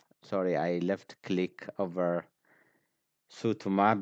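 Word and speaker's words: suutumaa: I left click over sutuma between the two sounds it is not any letter but it is a mark of the mouse click so it is s u u t u m a a if I read it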